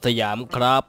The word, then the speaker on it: สยาม: แกล้ง คน ใน Server สยาม นั่น เอง นะ จ๊ะ ป่า วะ เออ มัน น่า จะ ใช่ นะ ครับ โอเค ก็ ใช่ ผม อ่าน ว่า เสียม ครับ ใช่ ครับ เสียม ครับ โอเค ครับ วัน นี้